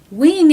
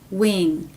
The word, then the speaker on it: wing: vowel wi wi win Wing is also written with the i as in sit vowel but clearly the vowel sound is different wi wi win we we Wing it's actually a lot more like the sound in we we we wean so keep this in